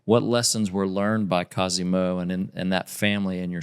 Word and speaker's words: Cosimo: Pronounce it for me. Cosimo.